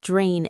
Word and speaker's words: drained: I want to focus on the pronunciation of the word drained. It ends in an e d, but we do not pronounce it as two syllables. We do not say drained.